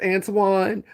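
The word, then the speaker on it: Antwoyne: So I always felt special about my name because it was pronounced Antoine but it was not spelled like the French people spelled Antoine.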